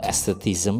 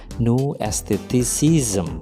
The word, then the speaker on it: New Aestheticism: ada sedikit kesalahan sebenarnya itu pengucapan dari teori new eh estetism itu salah sebenarnya adalah new esteticism ya Jadi sepanjang sepanjang